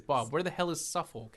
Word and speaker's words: Suffolk: Bob, where the hell is SuffK? Anna, Suffukk, the one. Um, okay. To be fair, it's spelled Suffolk.